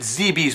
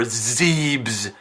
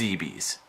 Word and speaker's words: Zebes: None of this Zebeth stuff or Zeebs. No. It's Zeebees. Freaking Zeebees. I've heard everything from Zeebs to Zeebees to Zebeth. Where is there a TH sound in that word?